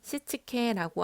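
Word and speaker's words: 躾: 5S는 일본어로 정리, 정돈, 청소, 청결, 습관화를 발음했을 때 정리는 세이리, 정돈은 세이톤, 청소는 세이소, 청결은 세이케츠, 습관화는 시치케라고 합니다. 영어 단어로 일본어를 따지면 S로 시작하는 발음이라 5S라고 검색하니 네이버에서 이렇게 나왔는데요.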